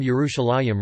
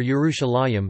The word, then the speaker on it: Yerushalayim: However, the pronunciation of the last syllable as a yim appears to be a late development, which had not yet appeared at the time of the Septuagint.